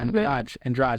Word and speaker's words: Andrade: Yeah, Andrade. That's how to pronounce it.